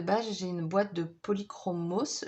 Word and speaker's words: Polychromos: j'ai une boîte de polychromos, je pense que le S se prononce.